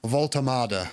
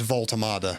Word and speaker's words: Woltemade: watched enough clips to confidently say that his name is Vultardada. That is how you pronounce his name. It is Voltoada.